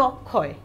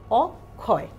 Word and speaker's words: অক্ষয়: দ্বিতীয় উচ্চারণ চলে আসছে যেমন অক্ষয় অক্ষয় এবং এর সেখানে কিন্তু ক এবং খ এর উচ্চারণ আসছে তাহলে এই যে দ্বিতীয় নিয়মটাও